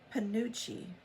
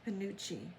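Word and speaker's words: penuche: P E N U C H E which is panucci or panu panucci ponucci or pinucci. So either one. So it depends on where you are regionally in the United States as to how you pronounce that apparently.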